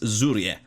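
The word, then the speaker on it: Żurrieq: it and apparently it's Zur um because apparently the Q is silent and the The Zed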